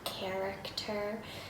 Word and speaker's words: character: You can have character, chase. See, they both begin with CH, but character is pronounced CH with a K, right?